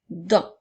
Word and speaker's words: dent: donc le son U ensuite le son 2 et le son 1 qui s'écrit ent celui-là aussi à une lettre muette qui est la lettre T alors on peut utiliser